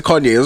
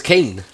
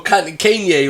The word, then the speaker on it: Kanye: from the days where people thought his name was kane oh yeah couldn't couldn't even say his name yeah yeah yeah well kanye or whatever it was